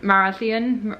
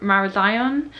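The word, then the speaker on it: Marazion: we're relying on buses and getting back from marasian mara zion st michael's mount was a bit of a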